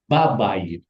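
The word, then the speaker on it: בבית: Tadinya begini bunyinya. B, H, bait. Bacanya aslinya begitu. Nah, karena ini adalah huruf lemah, dia dibuang. Tetapi nikutnya diambil sama bed. Maka bunyinya babait di rumah yang itu.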